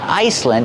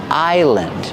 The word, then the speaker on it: island: Remember the S is silent. It's not Iceland. It's island.